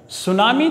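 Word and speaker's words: tsunami: यह बता देता है जब स्कूल में थी साइलेंट रहता है नेहरू Mi होता है सुनामी जो है वास्तव में जापानी भाषा का शब्द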